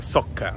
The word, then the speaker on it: soccer: calcio con il Nashville Soccer Club e questo è il Geo di Spark ovvero il loro stadio che poi invece lo pronunciato all'italiana dicendo Soccer Ma si dice sciocca sciocca invece in Inghilterra si